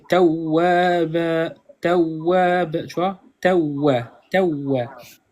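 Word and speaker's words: تَوَّابًا: Kana, Kana, kana tawaba. Ok. ouais, c'est ça. Et en fait, tu sais, l'erreur que tu as faite, toi, c'est que la shadda, tu la prononces pas bien. Il faut vraiment accentuer. Tawwaba, tawwab, tu vois?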